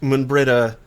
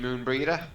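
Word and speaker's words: Moenbryda: She actually pronounced Moonbrita the way it looks like it's supposed to be pronounced. You mean Moonbreeder? That's the way everyone else said it.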